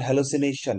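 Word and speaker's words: hallucination: হ্যালোসিনেশন উচ্চারণ, সঠিক উচ্চারণ হ্যালোসিনেশন, মতিভ্রম, ভুল দেখা। রাত্রেবেলা ঘুমাইতে হঠাৎ করে দেখেন চেয়ার ভাসতেছে, মাটি থেকে চেয়ার উঠে গেছে, এটাকে হ্যালোসিনেশন বলা হয়। উচ্চারণ করার জন্য মনে রাখবেন আপনারা হাল্লুসি নে টিয়ন, হাল্লুসিনেটিয়ন, তাহলে কি হবে বলেন তো?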